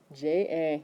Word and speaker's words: ja: J-A. Yeah, well, it's pronounced like a Y, but it's actually a J.